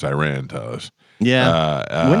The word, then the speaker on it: Iran: We call it Iran. Iran. Yeah, it's Iran. And we pronounce it the way we pronounce words, right? Like it's spelled that way for us.